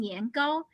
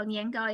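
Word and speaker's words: 年糕: rice, so she's making niangao. Niangao is one of the two major like snacks, right? For Chinese New Year, niangao has the same pronunciation with niangao, which means every year you go up.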